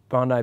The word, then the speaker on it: Bondi: gosh we we skated the bowl at uh Bondi Beach the other day that's how you pronounce it yeah it was awesome it was